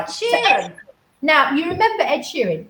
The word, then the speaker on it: Ed Sheeran: Ed Sheeran.